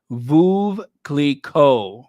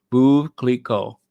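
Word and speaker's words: Veuve Clicquot: that thing right there is phonetic spelling for Vu Cleo Vu Cleo okay that's how you say it blue v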